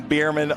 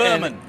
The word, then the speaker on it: Berman: I've been saying Bierman all year. So Brady, wish you were here. It's Berman.